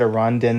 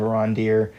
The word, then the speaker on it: Arondir: to tell you that I accidentally mispronounced a few of the names, and if that's gonna, like I said, Arondin instead of Arondir, and I said... I think Ronwin instead of Bronwyn, and I think I said Elrond instead of Elrond.